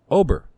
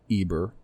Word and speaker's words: Eber: would be your great ancestor Ober not Eber or Heber you can actually see this in a number of names that are Germanic and Dutch they have actually retained that pronounciation all these years you couldn't you can see it with names like Obermeyer Oberholtzer any of those names with over in them now there are